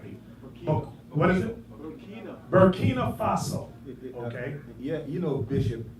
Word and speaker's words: Burkina Faso: Burkina Faso.